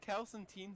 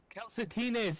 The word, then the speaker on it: calcetines: Wait, isn't calcentine socks? Calcetines is socks.